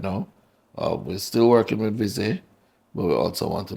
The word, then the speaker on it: Visé: Please pronounce it properly because I don't want to butcher the name. It's URSL Visé? It's Visé.